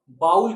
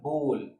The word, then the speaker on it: bowl: ये जो आप देख रहे हैं ना कटोरी, इसको कई लोग बाउल कहते हैं. बाउल. बाउल नहीं प्रोनाउंस करते दोस्तों. इसको प्रोनाउंस करते हैं बोल.